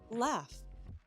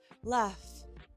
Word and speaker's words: laugh: Laugh. Laugh. It's an F sound. Always trust your ears, not the spelling.